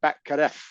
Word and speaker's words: Batgarel: that they have so Dana Batgarel is how it's spelled, but the way he says it is entirely different. It's Right. like there's no L. It's like Batkaref.